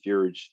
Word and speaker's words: fjord: Yeah, the fjord, the Norwegian fjord. So fjord. 2 syllables. J is silent.